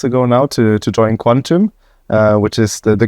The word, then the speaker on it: QNTM: of all it's it's spelled it's Q NTM pronounced Quantum yeah okay so what is what is quantum